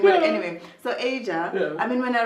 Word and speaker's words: Aja: Is it, how do you say Asia? Is it Asia? Yeah. I thought it was AJA. I really thought it was AJA. I thought it was initials or something.